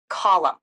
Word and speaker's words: column: I don't know how pronounce it yes it's pronounced column great job do you want to practice using